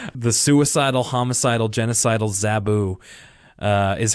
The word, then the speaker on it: Zoboo: the way it's spelt because it sounds like if you were to write it out it would be like z-a-b-u but of course when i was a kid i used to always watch with the closed captions on and they would spell it out z-o-b-o-o so it's like zoboo so like that's like no that's but it's it's zaboo it's my direct-to-dvd sequel